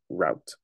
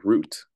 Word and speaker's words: rout: five disorganization and six route or root because it is spelled as r o u t other conditions being equal